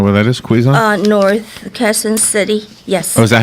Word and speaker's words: Quezon: North, Quezon City.